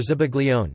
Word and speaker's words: zabaglione: Zabaione, Italian pronunciation, Zabaione, or Zabaglione, Zabaione, is an Italian dessert, or sometimes a